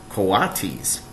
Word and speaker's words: coatis: "These are coatis," Miss Brisbane said, reading from the letter, pronounced coatis.